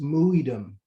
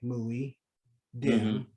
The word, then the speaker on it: Muidem: But it's pronounced Muidem. So if you want to say phonetic, M-O-O-Y, Muidem, D-E-M, Muidem, right? Emphasis on the I.